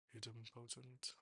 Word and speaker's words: idempotent: A get request has to be idempotent, idempotent, speech, how do you pronounce it?